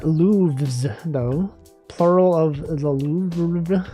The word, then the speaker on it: Louvre: Plural of the Louvre. How do you even pronounce that?